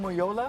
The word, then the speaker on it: Omojola: Omojola? Yeah, that's the German way to say it.